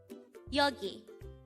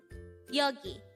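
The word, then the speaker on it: 여기: Yogi Yogi this is pronounced as a two-syllable word the first syllable is ya and second syllable is Ki pronounce it with me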